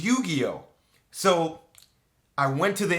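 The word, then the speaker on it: Yu-Gi-Oh!: getting ready to get called yugi yuji no one could pronounce it it was yu-gi-oh so i went to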